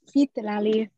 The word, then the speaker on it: Zitlali: And we're gonna go next to, I'm gonna mispronounce this, I wanna say Zitlali, but I'm gonna bring you on here. Please tell me how to pronounce that. Hello, yes, Zitlali, thank you.